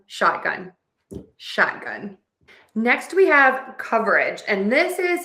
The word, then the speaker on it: coverage: However, when I'm having a conversation, I do tend to totally drop that schwa syllable and really reduce that word to just coverage. So, you can say coverage or coverage, whichever you prefer.